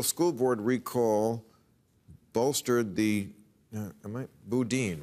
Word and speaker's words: Boudin: Boudin, right? Is that how you pronounce that name? Yes. Chesa Boudin.